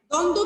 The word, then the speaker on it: দ্বন্দ্ব: দৈব হ্যাঁ, দ্বন্দ্ব কি হবে বলো?